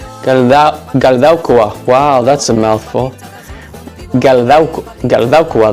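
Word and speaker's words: Galdakao: How do you say it? Galdaukoa.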